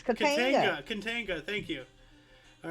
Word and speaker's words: Katanga: also have 1962, how the hell do you pronounce that? Get it? Katanaga? Katanaga. Katanaga. There's no A after the A. Katinga. Kantiga. Katanga Became part of the Katanga. Democratic Republic of Congo. Okay. Katanga. It's Katanga.